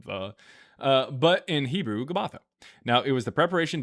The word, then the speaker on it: Gabbatha: I don't know why it pronounc so much pronunciation on the uh but in Hebrew Gabbatha.